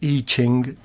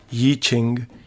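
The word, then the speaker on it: Yijing: Yi Ching, whose name in English is variously spelt and pronounced as I Ching, Yi Ching, and Itzing, was a Chinese Buddhist monk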